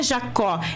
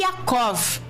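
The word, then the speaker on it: Yaakov: o som do J não se pronuncia o som do J Então não é Jacó e yakov e yakov a tradução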